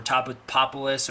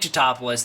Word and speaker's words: Tatopoulos: So, we smash cut to Nick Tatopoulos or Topolis or however many ways they're going to try and pronounce it in an ongoing joke that I never thought was all that funny. Um, Nick toopoulos, that's how you say his name.